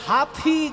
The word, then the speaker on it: हाथी: কি আর আপনারা বলবেন হাথী ঘোড়া পালকি হাতি বলবেন না হাথি বলবেন মানে হিন্দিতে উচ্চারণ হচ্ছে হাথি আর বাংলায় বলে হাতি এই ভাইয়া দোনো বাহে